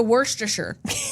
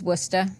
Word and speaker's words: Worcester: And two, I immediately was going to go to Worster. That's where my head was going to go. That's not at all how it's spelled, but that's exactly how I was going to read it. It's Worcester.